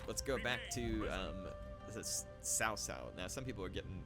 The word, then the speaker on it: Cao Cao: Now, some people are getting, they say it like, they write it out like I'm pronouncing it S-O-W, and it's probably what it does sound like. It has a T in it.